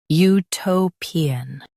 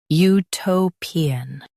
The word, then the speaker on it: utopian: Utopian. Now read the syllables shown on the screen naturally. U to pi an. Utopian. Stress to and keep pi light.